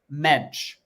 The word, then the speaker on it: Mensch: Although I will say I do know how to say Doug Mensch. Okay. Yeah, I knew that one. That one I checked, and yeah, you say it like clench.